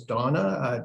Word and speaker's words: Dana: I believe down in that email, it looks like it's Dana, but I believe she had pronounced it as Donna.